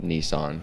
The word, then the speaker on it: Nissan: I say Nissan. Oh, I it say is Nissan. They say It's Nissan. Nissan. I swear it's a Japanese word and it's definitely pronounced Nissan.